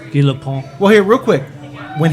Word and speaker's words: Guy Lapointe: They actually say that the French pronunciation in the movie. Guy Lapointe. Guy Lapointe.